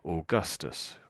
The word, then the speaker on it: Augustus: So although it's OAU, we sort of say as if it was perhaps OR or something. We say or at the front, or. That's how that's pronounced.